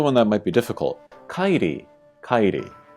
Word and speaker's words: Kairi: So again, we have two vowels together. A, I. You kind of, put them together. I. And then ri, again with a ri sound, kairi. Kind of like Kyrie Irving.